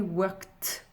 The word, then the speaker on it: worked: Ça donnera I worked. Comme si après le K, vous aviez directement la lettre T.